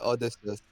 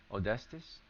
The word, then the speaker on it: Odysseus: with Odysseus. Odestis? How do you spell? Odysseus. Odysseus? Oh Odyssey. yeah, like the Odyssey.